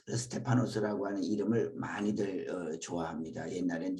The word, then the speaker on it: 스테파노스: 스데반 우리식으로 발음하면 스데반으로 불렀고 헬라어로는 스테파노스입니다. 그래서 스테파노스라고 하는 이름을 많이들 좋아합니다.